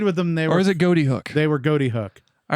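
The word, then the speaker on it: Ghoti Hook: Like, So it's Goaty Hook. but yeah, and it was Goaty Hook at the Okay. time. But they've said it's actually like how you'd spell fish phonetically.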